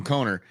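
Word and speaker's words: Coner: from a man conor his name's connor but it's spelled c-o-n-e-r so we call him conor um because you know that's how you spell conor uh he brought me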